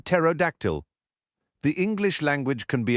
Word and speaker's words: pterodactyl: The P is silent, Tanu said, like in pterodactyl.